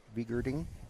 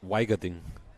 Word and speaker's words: Weigerding: So you got Salemi, Greiner, Vigerding. How do we say his name? In German, it's called Weigerding. Oh, okay. Well, that's handy, because I've been saying it wrong all week.